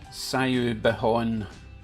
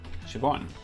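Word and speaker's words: Siobhan: the list I can never remember how to spell it sa Bon say the horn Shon there we go lovely and I'll explain what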